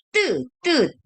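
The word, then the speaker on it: ㄸ: bacanya 뜨 begitu.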